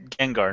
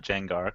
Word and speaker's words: Gengar: it's pronounced Gengar, not Jengar, because Yeah, okay.